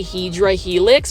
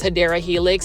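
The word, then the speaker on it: Hedera helix: plants to grow indoors I like to say hedra Helix versus hadera Helix it just kind of stuck along this video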